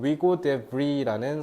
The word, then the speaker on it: Hugo de Vries: 1878년 여름에 30살 먹은 네덜란드 식물학자인 이건 위고라고 읽어야겠다. 네덜란드 사람이니까 위고 데 브리라는 사람이 영국에 가서 다윈을 보려고 갔대요.